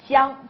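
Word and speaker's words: 姜: And ginger, jiang, that's true, Paul Wan. Ginger is jiang, ginger, jiang, jiang, that's how you say it in Chinese.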